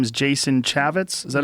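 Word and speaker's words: Jason Chaffetz: Well, the guy pulled it after the backlash and his name is Jason Chavitz.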